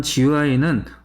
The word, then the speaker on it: GUI: 그래서 그래픽의 형태로 프로그램을 동작시킬 때 우리는 GUI다 라고 얘기를 하고 뭐 흔히 GUI라고도 발음을 합니다. GUI. 네. 이러한 GUI는 그래픽을 이용을 해서 사용자가 조금 더 이해하기 쉬운 모양으로 정보를 제공을 한다.